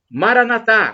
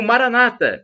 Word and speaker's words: Maranatá: E do aramaico dialeto de Jesus, eu clamo: Maranatá, como dizemos nós católicos com a tônica na última sílaba, ou Maranata, com a tônica na penúltima sílaba, como dizem os protestantes, os evangélicos, mas não importa, somos todos irmãos.